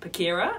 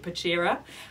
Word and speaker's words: Pachira: Thank you to whoever commented on our last vlog saying actually it's pronounced Pachira and I was calling it Pachira. It's named after a plant and so it's Latin and hence no cha.